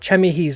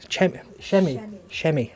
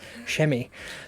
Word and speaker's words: Chemi: So we've got Chemi. I think he's on a gold program at the moment. So that's Shemi. I keep saying it wrong. Thank you, Alex. Shemi.